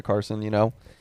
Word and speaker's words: Carson: Carson Hocevar. That's right. Mike Davis's is to pronounce his name right.